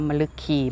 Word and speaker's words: มฤคี: แรก แล้ว นะ ว่า อ่าน ว่า มะ ลึก คีย์ มฤคี แปล ว่า กวาง ตัว